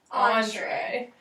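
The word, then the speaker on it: entrée: is called an entree how do you say it Andre that is called an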